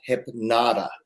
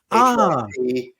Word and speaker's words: Hypnotta: My show is called Hypnotta. Hypnotta. Hypnotta. Thank you. Trust me to add an extra syllable.